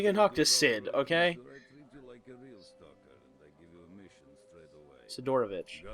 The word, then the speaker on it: Sidorovich: can't believe we can talk to Sid okay sidorovich sidorovich there we go I can't believe I couldn't pronounce his name okay so basically he wants